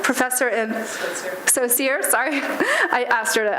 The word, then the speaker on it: Skocir: Skocir, professor in Skocir, sorry. I asked her how to pronounce her name like 3 times.